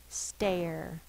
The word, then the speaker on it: stare: says r r so if we don't have a silent E this word would say star but it says